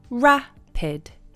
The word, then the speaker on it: rapid: you could say RAPID rapid rapid the stress is on the first part of the word /ra-puhd/ you can't make rapid